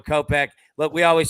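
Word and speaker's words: Kopech: hits runs in RBIs how do you pronounce my man's name pitching for the White Sox there Michael kopeck there we go kopeck look we always say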